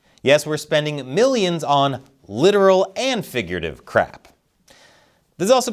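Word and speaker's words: littoral: literal combat ship production operation and support the literal that's how it's pronounced these ships have been a government Nightmare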